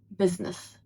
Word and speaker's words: business: And in American English, it's pronounced as business. Business. And the first sound is very short.